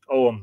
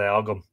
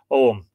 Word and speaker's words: Ogham: Oum, that's how you pronounce it. Yeah, some people say Ogham. Oum, yeah, that's exactly it.